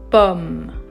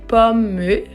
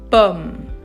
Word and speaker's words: pomme: We say pomme. We don't say pomme, okay? Don't pronounce the E at the end. It's just pomme, pomme.